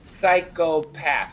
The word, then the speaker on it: psychopath: here psychological here psychopath so even this word psychopath we do keep the O psychopath we can make it schwa but we can keep it o too psychopath psych psychological